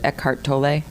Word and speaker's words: Eckhart Tolle: needed to start reading I'm gonna get his name wrong is it Eckhart Tolle yeah exactly okay because I've developed in